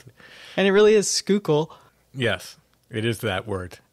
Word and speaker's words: Schuylkill: Really to pronounce it. And it really is Schuylkill.